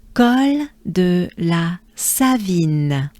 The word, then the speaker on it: Col de la Savine: La Savine, Savine, vine, I. There's the banana smile. I, vine, vine. Savine, la Savine. As a whole, together, ensemble. Col de la Savine.